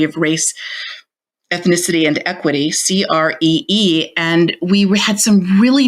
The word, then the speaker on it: CRE2: we were going to launch as Cree which we were pronouncing cree and it was very